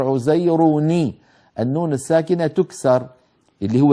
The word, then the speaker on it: عزير: اليهود عزير ابن الله، عزير آخرها تنوين، والتنوين ما هو؟ نون ساكنة، عزير، انظروا عزير نون ساكنة لكن بعده ساكن اللي هو الباء من كلمة ابنه، فاجتمع عندي في النطق ساكنان، التنوين اللي هو النون الساكنة يعني والباء، فالعرب لا تجمع بين ساكنين، فإن وجد ذلك في كلامهم حركوا الأول، فعزير شو بتصير؟ بتصير عزيروني، النون الساكنة تكسر اللي